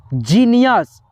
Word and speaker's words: genius: तो यहाँ पे देखिए GENIUS, जीनियस। अगर आप लोग गिनियस पढ़ते हो तो आपका उच्चारण जो है ना, प्रोनाउंसिएशन गलत होगा।